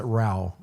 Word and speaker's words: Ra: Ra like Ra. Ra, yeah, they pronounce it Rao.